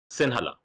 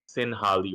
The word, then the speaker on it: Sinhala: The language is called like Sinhala. Singhala, Sinhala. Singhala. Yeah. He told me, yeah, he said Sinhali or something.